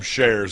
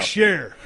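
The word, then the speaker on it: Scherr: Adam Shares. Adam Shear.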